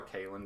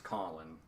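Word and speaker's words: Kahlan: always always called her K I know but apparently even Terry good gang was like no her her name's Colin it's Colin which it's spelled k a h l a k a h yeah L A an so I mean okay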